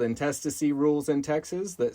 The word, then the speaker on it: intestacy: I don't have a will there's something called intestacy rhymes with intestines not intestines intestacy rules the state of Texas